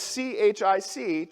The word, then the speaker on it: chic: this tag that says CHIC, chick. I know that's pronounced chic, but I thought it said chick at the time, and so I said, "Chick!"